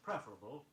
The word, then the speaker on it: preferable: The word preferable, P-R-E-F-E-R-A-B-L-E, is accented on the first syllable.